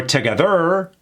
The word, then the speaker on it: together: Emphasis on the eh. Together. Not together or together.